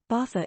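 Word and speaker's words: Baza: and so you know bathur is spelled b-a-z-a The Zed is pronounced as a th this narrator won't pronounce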